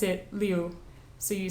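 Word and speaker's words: Liu: of them um also in Chinese vowels do not combine together into a single sound you always pronounce all of them so in the author's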